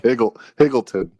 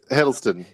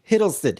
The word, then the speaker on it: Hiddleston: But I will also say, Tom Hiddleston, how do you say his last name? I like Higgleton. No, it's Hiddleston. Hiddleston.